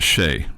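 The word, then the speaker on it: Chelly: Shelley's pronounced Shea.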